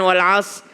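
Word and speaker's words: والعصر: Ra adalah huruf tebal, sad bukan qalqalah. Jadi kesalahan keempat ketika membaca wal asr adalah membuat sad menjadi qalqalah.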